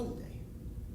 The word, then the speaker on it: Hyundai: You can spend middle 30s on a Hyundai. I talked to a Korean friend and he tells me the pronunciation is Hyundai, but I like my way, it's much more fun.